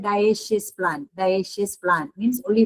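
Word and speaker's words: dioecious: इसको प्रोनाउंस करते हैं मोनेशियस एंड दिस इज डायेशियस।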